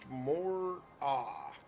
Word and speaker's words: moa: New Zealand, they are pronounced more-ah. Moa? More-ah? I don't know where the R comes from.